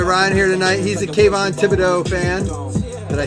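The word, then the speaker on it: Kayvon Thibodeaux: He's a Kayvon Thibodeau fan.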